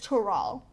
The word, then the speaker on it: Tural: Because you know she ain't gonna pronounce it right. It's Toral.